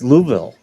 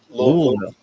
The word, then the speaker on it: Louisville: Because no, I'm in Louisville, Kentucky. You didn't say it right. It's Louisville. Louisville. No, it's Louisville. It sounds like you're like gargling water, like Louisville.